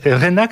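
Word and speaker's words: Reinach: Rénac, ça s'écrit R-E-I-N-A-C-H.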